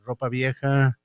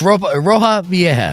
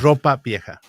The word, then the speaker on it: Ropa Vieja: Besides those two, of course, we have our Ropa Vieja. How do I pronounce that? This Roja Vieja. Ropa Vieja.